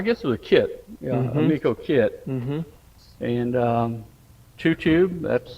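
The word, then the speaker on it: Ameco: Amico, how do you pronounce the it? Amico.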